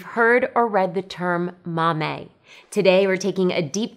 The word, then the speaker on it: momme: of the word mame you'll hear people pronounce the words as either mame or mommy we say mame because that's the way our lead weaving engineer says it mame is a unit